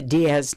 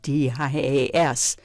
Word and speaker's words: Dias: They've got the Diaz name wrong. It's Dias. and they've got it Z.